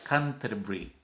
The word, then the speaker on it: Canterbury: catedral que en español escribimos como Canterbury. Yo sé que usted lo tiene que haber escuchado. Canterbury, así se escribe, se pronuncia Canterbury.